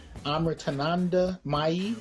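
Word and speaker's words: Amritanandamayi: Is an ardent devotee of Sri Sri Amritananda Mai Devi. Did I pronounce that right?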